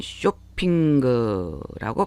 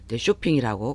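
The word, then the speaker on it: ショッピング: 응으로 발음을 하기가 쉽죠 쇼핑이라고 그러나 일본인들은 다 킹콩처럼 킹콩도 ng로 끝나잖아요 끝부분이 근데 킹콩이라고 우리는 발음을 하지만 일본인들은 긴급공구라고 발음해요 은구로 발음한다는 걸 기억을 해주시고 쇼핑거라는 발음요 쇼핑거의 발음은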